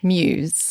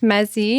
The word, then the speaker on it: MUZE: the meaning behind MUZE actually means, and it's pronounced Muse. Yes. Not Muzzy, not Muse, none of that.